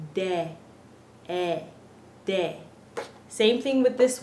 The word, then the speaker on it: de: the daylight day but it's not day it's de de same thing with this word say say we're always pronouncing e like that so let's go over